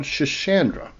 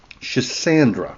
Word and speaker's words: Schisandra: vines on a plant called chashandra. Chisandra. There we go. I believe that's the proper pronunciation.